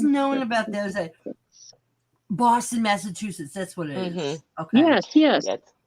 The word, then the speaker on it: Massachusetts: I always Massachusetts, so it's Massachusetts. Massive two shits.